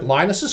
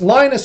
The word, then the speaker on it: Linus: So this is where nerds got together and they took Linus's kernel. It's Linus and Linus.